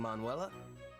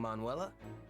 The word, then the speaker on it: Manuela: Morning, Manuela.